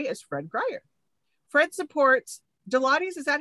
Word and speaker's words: Deloitte: Fred supports Deloitte's.